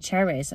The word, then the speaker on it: Cherryz: I've been getting his treats from an app called Cherryz on my phone. I've been getting quite a few bits from him actually. It's spelt cherry and then a Z on the end.